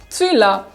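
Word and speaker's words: цвела: Stress is on the last vowel, a, tswila.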